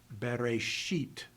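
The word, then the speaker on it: בְּרֵאשִׁית: So in this particular sentence, if I read it slowly, you would pronounce the inflection at the end of the first word, bereshit.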